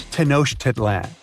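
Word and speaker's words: Tenochtitlan: It's tanoshedan. And Mayan cities are hard to pronounce too.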